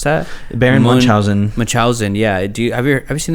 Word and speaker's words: Munchausen: do you know how to pronounce that? Baron Munchausen.